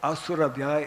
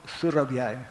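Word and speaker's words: Surabhyai: It is not Om Asurabhyay, it is Om Surabhyay.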